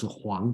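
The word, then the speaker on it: 黄: Okay, so I don't want to try to be too picky, but basically all pronounced as Huang, but the this Huang is yellow, and the Qinshi Huangdi, that Huang means king.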